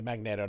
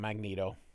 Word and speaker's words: Magneto: Now during this time uh magneetto I say magneetto not magneto um it's magnet with an O not magnet. So it's not a magnet it's a magnet. So, Magneto, Stanley just mispronounced it and all everybody else just keeps mispronouncing it.